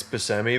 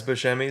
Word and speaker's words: Buscemi: Buscemi were reportedly under consideration for the least pronounced Buscemi it's actually not I've actually heard Steve Buscemi say it's basemi but everyone says bashemi so he stopped correcting them but I feel